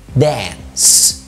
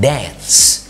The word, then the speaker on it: dance: كمان الاي لما بيبقى جاي بعدها nc بتتنطق برضو زي dance، يروس، زي chance. ما بنقولهاش تاني بريطاني chance ولا dance، نقولها dance، chance.